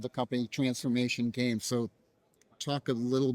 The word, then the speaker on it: Trance4mation: Well, it's spelled transformation, TRANCE, the number four, MATION. So it's like you're going into a trance formation.